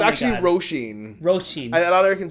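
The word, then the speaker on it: Róisín: Do you flip the R or is it a hard R? Roisin. Roisin. Yeah. Roisin. Yeah. No. Okay. It's a hard one.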